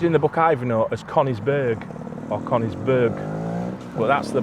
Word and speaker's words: Conisbrough: It's all about this castle and this place, Conisbrough. And that's how we pronounce it. That's the correct That is the correct way for the Yorkshire pronunciation.